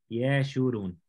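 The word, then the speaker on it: ישורון: Así es como se escribe Yeshurun. Recuerda que el hebreo se lee desde la derecha a la izquierda. Yeshurun.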